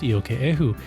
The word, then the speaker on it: Iokepa: Did I say it right? You got it perfect. I got it perfect. Perfect. It's not perfect. It's close. It's close. But I got the first name right. Iokepa.